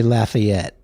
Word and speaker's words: Lafayette: to say that is you'll never get laughed at if you say Lafayette uh-huh God there you